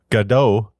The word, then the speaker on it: Godot: a commercial product while gdau is not now saying G because that's how the official documentation says it should be pronounced for English speakers I have included a